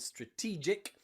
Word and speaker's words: strategic: strategic okay strategy and strategic strategic and magic both end in gic and nearly always in english that means that that g is pronounced j another example here is